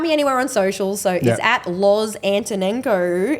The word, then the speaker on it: Loz Antonenko: anywhere on social so Lo antono and you say it and spell it the same way a n t o